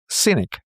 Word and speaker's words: Sinek: little late and then I saw uh Simon Sinek. Did I pronounce it right, Sinek? Yes. I think so. Simon Sinek.